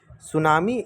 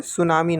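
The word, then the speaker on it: tsunami: सुनामी एक Japanese भाषा का शब्द है। सुनामी क्या है? एक जापानीज भाषा का शब्द है। जिसकी स्पेलिंग टी से शुरू होती है। टी एक्चुअली में साइलेंट होता है।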